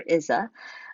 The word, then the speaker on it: Isa: That's right, this is pronounced, you can pronounce it either Isa or Isa, but I'm going to say Isa.